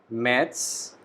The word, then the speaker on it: März: In this word we have A with umlaut. Umlaut means we need to put two dots above the letter A. So this specific letter has a pronunciation of A, very similar to English. So we call it März.